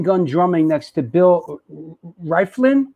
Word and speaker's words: Rieflin: My introduction to Martin was him machine gun drumming next to Bill Rieflin. How do you pronounce Rieflin?